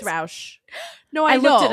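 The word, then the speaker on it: Rausch: Sorry, I don't know that how to pronounce his last name, even though it will be mine soon. Like everyone, it's Roush.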